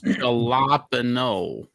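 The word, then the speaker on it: jalapeño: So it's Jalapeno. Jalapeno? Jalapeno, John. It's spelt with a J, not an H.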